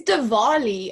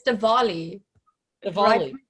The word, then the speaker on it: Diwali: say that again dollywood i think it's divali and i now i don't know i'm pronouncing it incorrectly or not well i was i was in i think i was in india for that and um that's how i was pronouncing it so maybe it's been a while it has been 20 years so it's diwali yeah you you can say diwali in india they celebrate